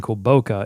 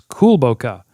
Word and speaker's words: Kulboka: call them on the team we've been saying cool boca it's kulboka it's a slight just a slight um pronunciation error there but we got it right